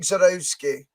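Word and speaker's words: Żurawski: It's Zarowski. Bored with this Not pronunciation, like Zarowski.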